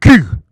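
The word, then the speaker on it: cul: In French, the letter Q, pronounced Q, sounds almost exactly like the French word Q, spelled C U L.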